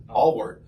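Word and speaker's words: Ahlwardt: It's going to be Ryan how do you pronounce Ryan? Allward. Yeah. Allward.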